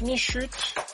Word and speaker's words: Michu: lui c'est Monsieur Michu alors ça se prononce michut il y a 2